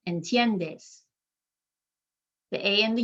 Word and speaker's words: entiendes: so in this case in tiendes there's only three syllables because the i and the e work together to make one sound called a diphthong i'm emphasizing that second to last syllable entiendess the a and the